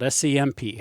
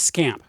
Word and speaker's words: SC/MP: Now, I fall into the group that prefers to pronounce it as it's spelled SCMP. However, that was not universal. Many others were preferred to pronounce it as scamp with others calling it